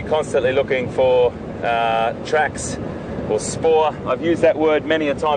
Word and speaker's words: spoor: It's an Afrikaans word, S-P-O-O-R, pronounced spoor, and a really important word that we, it doesn't have to be just tracks or footprints.